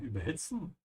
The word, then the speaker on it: überhitzen: Pay attention to the emphasis here. Überhitzen is not a separable verb. This is why I'm emphasizing the second part, überhitzen.